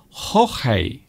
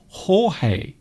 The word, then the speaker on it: Jorge: Storm Jorge. Apparently that is how you pronounce it in Spanish.